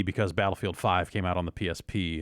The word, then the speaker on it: Battlefield V: But it sounds like currently, although it's maybe subject to change, the eventual name will be, I guess you pronounce it Battlefield 5, but they're spelling it Battlefield V.